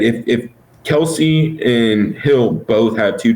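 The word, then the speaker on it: Kelce: know what that is it's pronounced kels kels it's not weird but no one's gonna ever call him that ever ever yeah he's like yeah it's it's pronounced kels but they call me kelsey so i just kind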